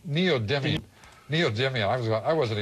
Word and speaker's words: neodymium: America's only neodium how do you say that neodymium neodymium neodymium I was I wasn't even close neod